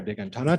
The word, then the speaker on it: Dehghantanha: And you know, there are very few people who can pronounce my family name properly, and he did that, right?